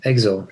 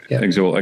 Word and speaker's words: Exul: You you've chosen reading from the press, you've chosen to perform Citadel and I might mispronounce the album name here, but is it Exel or Exile? Yeah, Exel. Exel.